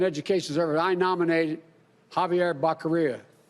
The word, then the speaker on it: Becerra: He said Javier Zequiera.